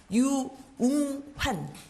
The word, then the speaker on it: 유웅환: 마스크를 한 번만 벗고 발음을 해드릴게요. 유웅환. 유웅환.